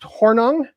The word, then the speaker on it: Hornung: it doesn't it's funnier than that it is pronounced hornung um it is it is a name that